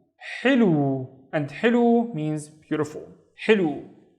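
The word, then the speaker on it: حلو: The first syllable is basically hi. The wave with no dots, so it's running out of breath. Ha. With a kasra, it becomes hi, hi. The second syllable is lu with a waw to make it twice as long, so it's lu, hilu.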